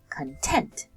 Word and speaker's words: content: So I can say content. Tent is the part of the word that's being emphasized or a little bit louder, spoken louder when we speak.